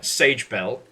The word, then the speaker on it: Sage Bell: It is spelled exactly how it's pronounced. There is no I in the Sage, please. And there's no E at the end of Bell.